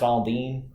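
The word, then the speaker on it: Aldean: It's pronounced Aldine. Is it Aldine? Yeah. Oh, I thought it was Alden. I'm pretty sure it's Aldine.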